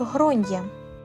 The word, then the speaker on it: Gráinne: Вона перепитала, що я маю на увазі, і я відповів: "В Ірландії зазвичай це ім'я вимовляють як гронья".